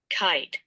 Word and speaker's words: kite: I I okay I kite i m time and I want to say something the E is silent the E does not say it's own name only the I says its name I kite okay the E is silent ladies and gentlemen it does not talk e can I get